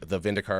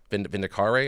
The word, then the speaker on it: Vindicare: The Vindicar assassin. Vindicare, I think it's actually pronounced.